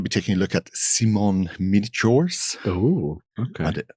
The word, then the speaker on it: Simon: But we're going to be taking a look at Simon Miniatures. Oh, okay. And I believe it is Simon, not Simon, because he is, after all, French.